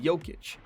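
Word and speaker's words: Jokić: Former Nugget Mike Miller coined the name for Jokic, who gave it his approval thereafter, because of Miller's issues with pronouncing Jokic, pronounced Jokic.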